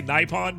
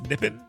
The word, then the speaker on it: Nippon: I say Nipon, but I've been told it's Nippon.